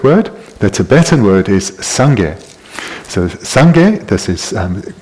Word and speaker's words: Sangye: The Tibetan word is Sangye. So Sangye, this word is comprised of two syllables. Thank you. 2 syllables. The first being sang, the second gye.